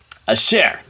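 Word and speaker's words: אשר: going to be that first letter is what silent it's an aleph the second letter is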